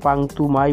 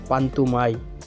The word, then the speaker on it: পান্তুমাই: পান্তুমাই গ্রামকে যদিও অনেকে পান্তুমাই বলে ডাকে। কিন্তু এর সঠিক উচ্চারণ পান্তুমাই।